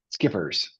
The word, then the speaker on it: SCPRS: Skippers state contract procurement registration system SCPs is skippers is how we pronounce that acronym.